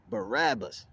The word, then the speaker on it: Barabbas: which Barnum a rabbit oh no this is Barack okay it's somebody else okay see I didn't see I'm learning which I said it wrong Barabbas who was a man